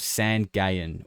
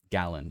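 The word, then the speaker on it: San Gallán: Peru on an island called San Gallen, or Gallon, if you're going to pronounce it like a gringo.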